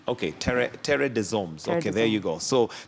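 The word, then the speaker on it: Terre des Hommes: you pronounce that tradition it's a french name okay terry de zombs okay there you go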